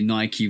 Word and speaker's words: Nike: Like there's a bunch of Ike words in the English language and they're all pronounced Ike. like Mike Tikeke. You know what I'm saying? But Nike is the one difference that I've always known.